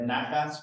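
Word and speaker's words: נחת: So if you hear somebody saying they have nachas when they're kids, nachas means pride. That's how that word is pronounced.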